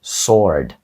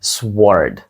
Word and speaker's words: sword: спробуйте вимовити 19-те слово Отже правильною вимовою буде Sword а не Sword Так там стоїть літера w після S що мало бути SW Sword але w там глуха Отже вимовляється воно просто як Sword що означає Match тобто